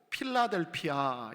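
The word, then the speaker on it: Philadelphia: 허락해 주시기를 간절히 소원합니다 빌라델비아 영어 발음으로 필라델피아 있니다 들어보셨죠 펜실베니아 주에 있는 필라델피아 필라델피아가 바로 똑같은 음가를 가지고 있습니다 지난주 나눴던 대로부터 동남쪽으로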